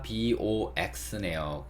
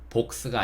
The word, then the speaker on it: box: 기억해 주시고, 단어를 보니까 BOX네요. 그쵸? O의 대표 발음은 제가 R라고 말씀드렸어요. O가 아니고, 그래서 이거를 복스가 아니고, box 이렇게 읽게 되어 있습니다.